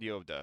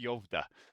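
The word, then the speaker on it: Skövde: It's called Yovda, but it's spelled Skovdi. That's pronounced Yovda.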